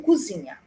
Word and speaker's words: cozinha: Cozinha ou cozinha? Como que você escreve? É com O ou com U? Com O. Então, ela é com O e a pronúncia tem que ser com O.